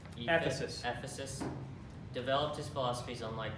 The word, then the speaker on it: Ephesus: Ephesus.